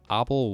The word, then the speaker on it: Abel: famous lemma um called the obel wire straw slimo or able depending on whether you want to uh pronounce it correctly or not um so the abba